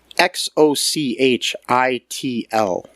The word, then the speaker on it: Xochitl: Xochitl Gomez. I think the X is pronounced like a ch sound.